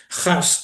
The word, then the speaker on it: Haas: sé cómo pronunciarlo porque si pronuncia francesa es as, es as, mientras que ese es el origen es alemán, holandés Jas sería, voy a hablar